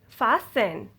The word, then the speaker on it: fasten: say it soften often fasten listen hessen okay now so you cannot hear rt i do not say it soften often fasten listen hasten no you don't ever say tea tea will be silent you don't ever say